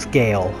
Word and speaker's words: Sgàle: this is the ark society on the island of zgel skull s-g-a-i-l so it's like cigar but it's pronounced scale apparently i i don't understand